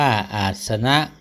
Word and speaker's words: อาสนัง: ประภาชี ให้ บวช แล้ว อาสนัง อ่าน ว่า อาสนะ อาสนะ ปริยันเต ใน ที่ สุด